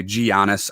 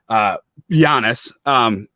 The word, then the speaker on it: Giannis: or as some national guys like to say, Giannis. I don't understand how people mispronounce it. It blows my mind, but Giannis.